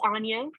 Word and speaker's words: Anja: hi good morning um it's pronounced Anya Anya um it's okay no one would have ever guessed that right on the first time it's spelled kind of weird um I'm calling from